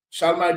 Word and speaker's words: Charlemagne: How you pronounce the name? Charlemagne. Charlemagne.